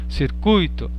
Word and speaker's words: circuito: A gente costuma falar gratuito, circuito, fortuito, intuito, mas não é assim, porque elas são paroxítonas. Então a pronúncia correta é gratuito, circuito, fortuito, intuito.